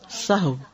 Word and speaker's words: سہو: سب لوگ اپنا تلفظ بھی درست کر لیں. سہو جیسے لغو، ٹھیک ہے، کرب، نفس، سہو.